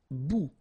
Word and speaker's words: bout: Okay, bon, all right, and here we've got substantive, un bon, un bon, un bout. Remember, final T not pronounced, un bout, une bout.